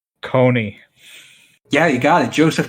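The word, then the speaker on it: Kony: Rhymes with Tony. Coney.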